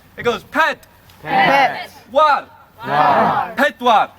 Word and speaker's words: pedwar: There's a couple of syllables in 4, and I'll give you the first syllable, then the second syllable. It goes ped. Pet. War. Pedwar. Pedwar.